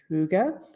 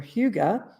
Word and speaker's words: hygge: you say it and you can say it hygge or huga i've seen it both ways and one of my